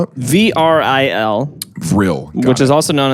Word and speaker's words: Vril: How do you spell it? VRIL, Vril.